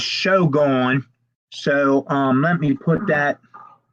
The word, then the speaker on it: SHOGONE: It's SHOGONE 88, which I would pronounce that as Shogun.